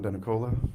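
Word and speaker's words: Denicola: My name is Denakola. Last name is spelled David.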